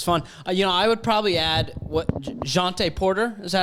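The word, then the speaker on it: Jontay: I would probably add Jonte Porter. Is that how you say his name? Jonte? Yeah. Jonte.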